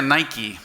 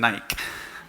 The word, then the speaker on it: Nike: Lo pronuncia Nike, pero ustedes dicen Nike.